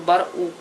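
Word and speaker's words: برقوق: Называется он барук. Барук. Если будете говорить барук, вас поймут. Но пишется он как бы в таком настоящем арабском языке, как баркук. Но египтяне это не произносят, и они говорят поэтому барук.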